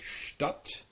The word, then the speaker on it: Stadt: SCH, the combination of ST and SP are pronounced very much like a sh followed by the t or by the p sound. So we have words like Stadt, we have words like Spatz, we have words like Spitze.